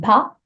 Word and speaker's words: pas: I hope you can hear part and pas being a little bit shorter, both with silent letters at the end, a silent S, a silent T, quite short.